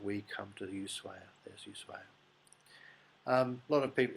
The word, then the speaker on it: Ushuaia: people pronounce it as Yu but it's Spanish and there's no sh in Spanish in fact the H is in Spanish is silent so it's actually USU